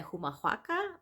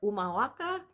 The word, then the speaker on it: Humahuaca: right, um, Quebrada de Humahuaca or Umahuaca. Again, the Spanish don't really pronounce H, so I'm thinking it's more Umahuaca, in the province of